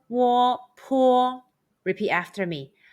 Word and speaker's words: po: And when you see Pinyin PO, the pronunciation is Po. Since the letter U is omitted in spelling.